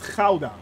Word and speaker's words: Gouda: so yeah it's uh gouda yeah it is uh or we call it in the netherlands we call it caulda actually so that's actually how you pronounce that so you learned